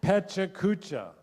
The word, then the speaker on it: PechaKucha: Vanessa was the one who invited Carol and I to our first, how do you pronounce it? Pechakucha. Pechakucha, yes.